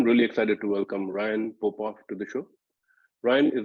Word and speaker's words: Popoff: They're both pronounced the same.